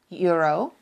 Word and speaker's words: euro: Unlike in English, in Czech every vowel is pronounced. Vowels are not merged into one sound. So while in English is pronounced euro, in Czech we pronounce it euro.